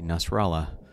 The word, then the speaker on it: Nasralla: We have Hernández versus Nasralla, and I was really interested into seeing how a Nasralla is running for election in Guatemala. Even though it rhymes with Guatemala, that is not a Spanish name.